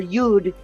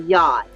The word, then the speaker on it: yod: They're a lot like what we call a yod. And a yod is the finger of God. Or yud, if you say it in Hebrew. But in astrology, I believe we can now pronounce it as a yod.